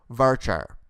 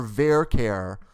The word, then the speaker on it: varchar: Now let's talk about varchar or varchar, depending on your dialect. I say varchar, but some people say varchar.